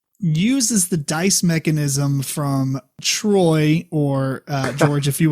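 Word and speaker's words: Troyes: Black Angel is a game that uses the dice mechanism from Troy or uh George, if you will, please enlighten us how to pronounce it. Tuah.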